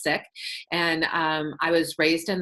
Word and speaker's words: Sikh: i k H it some people will say seek but if you're in South asians pronounced sick and I was Raised in that religion and